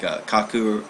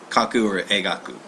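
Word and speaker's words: 描く: But it's still pronounced like kaku or egaku.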